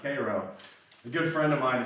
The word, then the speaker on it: Cairo: It's not pronounced Cairo, it's pronounced Cairo.